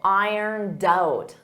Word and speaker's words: ironed out: And notice that pronunciation in the past simple, ironed out, ironed out, ironed out.